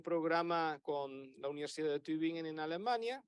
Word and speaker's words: Tübingen: Colaboración en un programa con la Universidad de Tübingen en Alemania. Tübingen, este sí sabe pronunciar.